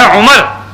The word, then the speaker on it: عمر: صحیح عمر ہے. عمر کا لفظ جو ہے وہ لکھنے میں اس کے آگے واو آتی ہے، عین میم رے آگے واو. اس کا تلفظ کیا ہے؟ عمر. کیا تلفظ ہے؟ عمر.